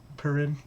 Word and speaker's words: Purin: So I believe for that one, as an example, it's pu, r, and in, essentially. Pudding, right. Yep, that's how you'd anglicize it, is Purin.